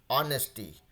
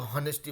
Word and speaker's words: honesty: Sir, in honesty, H is silent.